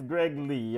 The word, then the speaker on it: Greg Lee: Greg Lee, Greg Lehigh. How you pronouncing him? I've heard him say it's Greg Lee or in an interview or something to that effect.